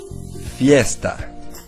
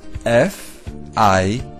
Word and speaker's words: fiesta: To say party in Spanish or español, you say fiesta. It's spelled like this: F-I-E-S-T-A.